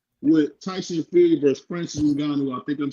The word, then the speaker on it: Ngannou: D Free, you said Ngongo. It's Ngannou.